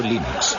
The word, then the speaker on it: Linux: eso se pronuncia Linux bueno y Linux lo pronuncio Linux sin embargo si FES Lin no hayuda de